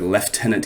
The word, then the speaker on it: lieutenant: cut scene we encountered I like the way they pronounce it we had encountered leftenant yaha in the dice